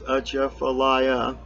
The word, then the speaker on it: Atchafalaya: And it says, starts like a sneeze, Atchafalaya. And you know, there's a little thing there.